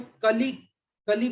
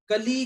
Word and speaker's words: कलि: में बिगड़ गई थी, उसका कारण ये था कि उसमें कली में ल पे ई की मात्रा छोटी है और आपने उच्चारण उसका बड़ी का कर दिया, कली का। तो जैसे ही एक मात्रा बढ़ गई, दो हो गई, डबल बड़ी मात्रा हो गई, तो वो लय बिगड़ गई।